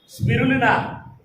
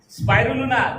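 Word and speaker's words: spirulina: स्पिरुलिना, स्पाइरुलिना, जो भी बोलना चाहते हैं बोल सकते हैं, उसका नाम तो एक ही है। कुछ लोग स्पाइरुलिना बोलते हैं, स्पिरुलिना उसका जो स्पेलिंग आता है ना अंग्रेजी भाषा में, वो तो सेम है।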